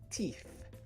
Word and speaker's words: teeth: Okay, the word is teeth, teeth, teeth. A good way to remember how to pronounce this word is that you need to be able to see your teeth, teeth, when you say teeth, teeth, right?